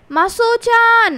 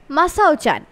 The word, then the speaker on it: মাসাওচান: মনে হতো যেন মহিলা সব সময় ছেলেকে খুঁজছেন, মাসোচান মাসোচান বলে, কিন্তু জাপানি ভাষায় উচ্চারণটা হওয়া উচিত ছিল মাসাওচান।